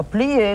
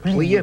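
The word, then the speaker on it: plié: I said, yeah, plie is a stretch.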